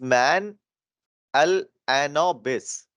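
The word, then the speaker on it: Mahalanobis: This is little bit different to pronounce. The name is man al anobis. Okay. Yes. So if we also know it by the name of you can say man in a nobby or something like that.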